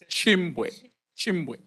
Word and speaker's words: Chimbwe: They've also been pronouncing it well, so they can help with the with the pronunciation. Thank you so much. Chimbwe.